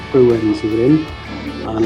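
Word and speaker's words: Bruern: So, like I said, was it Bowden's we're in? Bruens, I've been saying it wrong. Bruens we're in, and it's to say between Chipping Norton and on the road to Chadlington it is.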